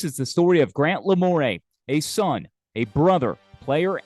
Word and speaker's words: Lamoureux: My first instinct, Grant, before knowing how it was correctly pronounced and just glancing it on paper or on a screen, is that it's like Boudreaux or Bro or Robichaud or Thibodeau, the Cajun spelling and pronunciation. Yeah. However, upon further review, it's not spelled E-A-U-X at the end. There's no A there.